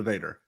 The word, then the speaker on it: Vader: rhymes with Hater. Bill Hader? Yes, it's Bill Hader. No, it's Darth Vader, you dummy.